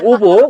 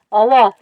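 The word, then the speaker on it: овоо: 자 우리가 오보 어워 하는 거에 발음을 정확하게 원어민 발음으로 오보 우리 선왕당 그 발음을 들어보겠습니다. 어워 어워 어워 이렇게 되잖아.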